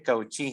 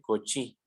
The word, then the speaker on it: Cauchy: No se dice Cauchy, se dice Cauchy.